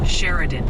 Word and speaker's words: Sheridan: It's Sheridan for Sheridan, Kansas.